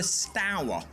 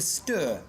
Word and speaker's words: Stour: Generally speaking, people from the north of England pronounce it Stour. People from the south pronounce it Stour, but I'm led to believe that neither pronunciation is right or wrong.